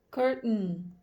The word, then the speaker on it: curtain: Para vocês irem acostumando o ouvido de vocês a estarem entendendo a pronúncia norte-americana, que esse stop de T é bastante frequente. Curtain, curtain.